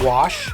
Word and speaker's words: gouache: Because it's definitely pronounced wash.